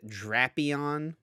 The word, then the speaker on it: Drapion: Vikavolt and Drapion, not Drapion, Drapion.